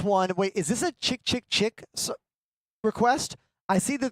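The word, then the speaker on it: Chk Chk Chk: And the person at the store was like, they pronounce it chick, chick, chick.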